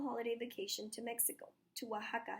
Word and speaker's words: Oaxaca: that it's the name of the state it's pronounced Oaxaca and here at this star is Oaxaca City